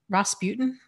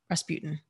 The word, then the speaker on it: Rasputin: of that is that the guy Ross you Rasputin Rasputin I believe that's how you say his name